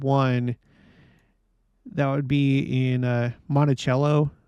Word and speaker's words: Monticello: That would be in Monticello. I think that's how it's pronounced. Monticello, Utah. There's a temple there.